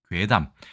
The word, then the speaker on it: 怪談: 짧고 간략하게 설명드리겠습니다 자 일단이 글자는 괴담이라고 읽습니다 괴담 괴상한 이야기를 이야기하죠 보통은